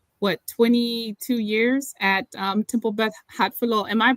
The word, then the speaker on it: Hatfiloh: Have you been for this entire, 22 years at Temple Beth Hatfiloh? Am I pronouncing that right?